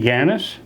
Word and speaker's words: Ganas: your full name yes my name is gannis can you spell that for me g-a-n-a-s okay and um you